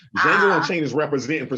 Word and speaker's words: Django: Come back because Django Unchained, the D is silent, is representing.